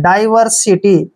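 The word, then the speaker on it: diversity: आई टी वाई को हम सीटी पढ़ते हैं डाइवर्सिटी देखिए डाइवर्सिटी डाइवर्सिटी मींस होता है बेमेल होना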